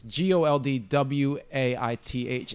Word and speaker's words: Goldthwait: It's Goldwaith.